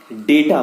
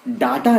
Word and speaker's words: data: हैं, उसके लिए चाहिए डेटा पैक। डेटा का जरूरी या जरूरत जो है इस YouTube वीडियो को देखने के लिए है। मैंने क्या कहा? डाटा नहीं, मैंने कहा डेटा, DATA, pronounced as डेटा, डेटा।